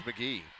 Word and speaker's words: McGehee: Do you know for sure how to pronounce it? I got to know this. It's McGehee. Okay. Yeah, because actually that is just McGehee because they're the Owls.